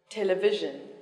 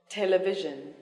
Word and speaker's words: television: war then three syllables yes the stress is on the first syllable dictionary dictionary complicated complicated elevator elevator ordinary ordinary television television automobile automobile critical critical